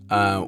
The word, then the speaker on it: Cipolla: beginning, our founder, Mauro Cipolla, how do you pronounce it in Italy? Cipolla, would meticulously taste and blend the best coffee